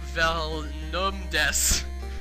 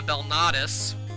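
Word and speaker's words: Belnades: Syfa Velnumdes, which should be Syfa Belnadis.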